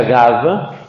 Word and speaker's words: Gave: Se escribe Gave, se pronuncia Gave.